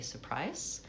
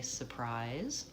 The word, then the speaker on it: surprise: And then lastly surprise that has stress on the second syllable prize. So prize is going to be long. It's the dip thong I. It also ends with final Z. So even though it's spelled with an S, we want to be careful not to say surprise, but we want to say surprise.